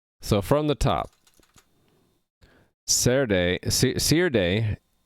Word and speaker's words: Serde: from the top saturday see your day i'm trying to pronounce it as in serialization d serialization so c r d